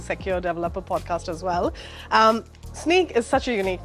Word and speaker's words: Snyk: will instrument an application we'll sneak data out and we'll help that secure it but we'll spell it with a y like the cool kids do yeah and then